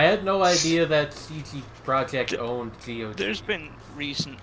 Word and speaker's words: Projekt: Is the Polish word for project seriously projekt? It's Projekt. Yeah. And that's how you pronounce a J in Polish.